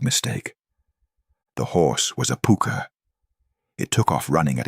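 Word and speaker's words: púca: In Ireland, there's a creature called the puka, pronounced puka.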